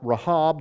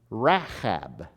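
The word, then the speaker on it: רחב: Her name would be pronounced Rahab. Rahab. But the monster is Rahab. So there's long sounds, and there's a in the middle of the woman's name.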